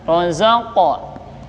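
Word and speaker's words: رَزَقَ: Kemudian rozaqa, ya rozaqa ya, rozaqa, qafnya besar. Ini namanya qalqalah.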